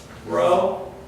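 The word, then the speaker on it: ῥῶ: Row. Wrong. All right, Hands so said again. row, Row. row.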